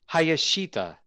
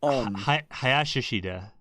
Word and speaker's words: Hayashishita: Utami Hayashita. Did I say it right? Did I say it right? Hayashishita.